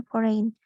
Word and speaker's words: foreign: consonants that are silent like the d in wednesday or the g in foreign how to fix it fixing